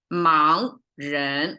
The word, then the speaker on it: 盲人: Always fully pronounced 盲人, like both are rising tone.